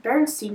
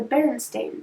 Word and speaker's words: Berenstain: with an a so instead of it being pronounced berenstein bears it's pronounced the Berenstain Bears which is a little awkward to say